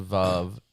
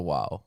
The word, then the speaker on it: vav: In modern Hebrew, it's a vav. In ancient Hebrew, it's a wow.